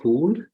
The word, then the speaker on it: Koulle: is r k but I prefer to be pronounced cool because it's cooler and I'm from Cameroon